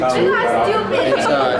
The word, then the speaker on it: Szeto: My last name, my family name is Zito. Say you pronounce it Zito.